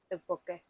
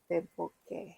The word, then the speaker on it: tteokbokki: I think it's Tepoke. Teboque. Like it's spelled with a T, but it's like Tepoke. Like Te, it's like a D, I think.